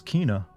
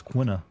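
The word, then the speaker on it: Quina: the others Kina oh that's how you pronounce that name from Final Fantasy 9 always wondered it's Kina I've always pronounced it as quna you got bored of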